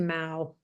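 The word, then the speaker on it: Maow: Is it still pronounced meow or was it pronounced Mao or? We started as Meow, but then another band in New York had the name, so we had to change it to Mao.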